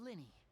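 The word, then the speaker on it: Lyney: any concern allow me to introduce myself I'm Linny and Lenny so that's that's how you pronounce it from abro nice to meet you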